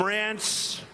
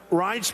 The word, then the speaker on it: Reince: They called him Rance. Steve Wynn just called him. He's still not pronouncing it right, Steve. But Reince Priebus, now everybody pronounces his name right.